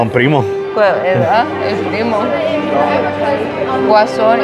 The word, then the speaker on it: Guasón: Guasón is Joker, yes. That's how you say it. El Guasón.